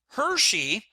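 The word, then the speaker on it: Hirschi: and and social bonds now Hershey and this isn't the chocolate it's just how you pronounce his name the version of social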